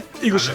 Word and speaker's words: Eaglesham: people call it Eaglesham, some people call it Eaglesham. We can never get it right. So I just go, you know what? Fuck it. I'm saying it like it's spelled, okay? I Eaglesham.